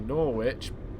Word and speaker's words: Norwich: kind of debate thing where I was say norit because I just say it because of my